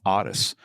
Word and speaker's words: Otis: around oddest tool and it's a weird name oddis it's spelled like Otis but he referred for everybody to call him oddis and so he was